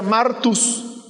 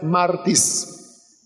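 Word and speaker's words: μάρτυς: y es como dije tiene dos pronunciaciones la antigua sería martus la moderna sería martis Pero a qué le suena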